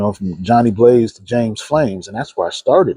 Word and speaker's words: Pflames: Flames.